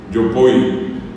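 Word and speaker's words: jopói: Yopoy, el acento en la segunda o Yopoy.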